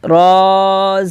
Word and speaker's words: ر: سیکھیں گے۔ ذال زبر زا، را، اس کو رے نہیں بولیں گے، را زبر را، زا زبر زا، سین زبر سا،